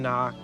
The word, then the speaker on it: knock: He can knock. The K is silent.